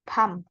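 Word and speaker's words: 밤: som yang ini berarti B Pa dan m PAM ini som artinya Pulau PAM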